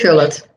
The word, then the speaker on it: Gullit: Julit, how do you pronounce it? Yep. Yeah? Ruud Gullit.